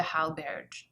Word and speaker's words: Hallberg: Angie taught me when she was here, and she taught me that the J is, or the G is pronounced like a J, but it's also kind of swallowed. So it's like Linda Hallberg.